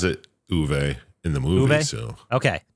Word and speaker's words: Uwe: say it I'm pretty sure he says it uve in the movie so okay that's right because